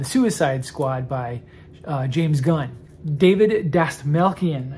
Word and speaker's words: Dastmalchian: David Dastmalchian, I think is how you say his last name.